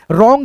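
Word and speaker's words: wrong: हो जाएगा यहां पे डब्ल्यू आर ओ एन जी यहां पे डब्ल्यू जो है ना आपका साइलेंट रहेगा जैसे दोस्तों हम यहां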